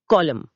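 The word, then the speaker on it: column: 116 कॉलम स्तंभ कॉलम सी ओ एल यू एम एन अंत में साइलेंट एन है। जैसे ऑटम में होता है। बिलकुल एम एन कॉम्बिनेशन में एन साइलेंट रहता है अक्सर।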